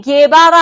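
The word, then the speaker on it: Guevara: 체 게바라 할 때도 이렇게 씁니다. 왜냐면은 요 가운데 지금 우를 빼버리면 체 헤바라가 돼버리겠죠.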